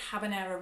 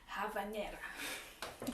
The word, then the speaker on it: habanera: city of havana because b in spanish i believe is pronounced as v so we should call it havanera and then we're going